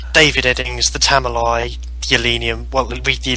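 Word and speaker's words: Tamuli: Obviously, from what you're saying is that this story, the Talumi, however you pronounce it, is The Elenium and the Tamalai.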